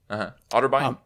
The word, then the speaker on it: Otterbein: Otterbein?